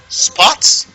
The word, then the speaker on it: sports: at the difference here here we have s P o T spots but look at this ah perhaps you love this SPO RT how do you pronounce this sports sports sports sports sports that's the difference between the oh and now look at